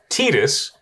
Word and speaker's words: Tidus: Now, I'm reliably informed that the way to pronounce this is Tidus, Yuna's Guardian.